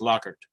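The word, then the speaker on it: Lockhart: looking in again it's lockart Texas lockart lockart yeah now see in South Carolina we have a lockart too but it's pronounced locker locker locker but um yeah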